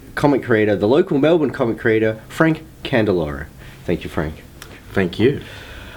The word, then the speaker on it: Candiloro: I mispronounced your name. It's actually Frank Ledger Award-winning Candiloro.